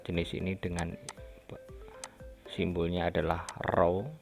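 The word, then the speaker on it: ρ: ini dengan simbolnya adalah roh ini row bacanya dimana massa jenis ini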